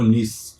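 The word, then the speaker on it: gneiss: दूसरा लिख सकते हो नीस। क्या बोल सकते हो, नीस। यहाँ पे जी साइलेंट है, इसको क्या बोला जाता है, नीस बोला जाता है, ठीक है।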